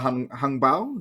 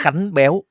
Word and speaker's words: Khánh Béo: I think during the regular season, there is a bit of hung bao. Is that how I pronounce it? Khánh béo.